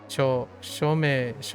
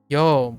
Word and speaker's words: yo: This person said my pronunciation is good, but pronounce yo more like a show. I'm like, okay. But I just want to be clear that pronunciations vary, but for me it's more like a Joe versus a show, right?